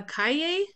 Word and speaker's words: calle: a no a casa um apartamento or a Cay what's a oh what is it Street oh